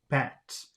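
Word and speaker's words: patte: sound different but but so with these circumflex it sounds like ah but and p-a-t-t-e sounded like if I remember correctly bats so but and bat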